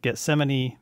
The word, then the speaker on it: Getsemani: guest i've got mr brian oliva of uh gethsemane music am i am i pronouncing that right brian yep perfect and uh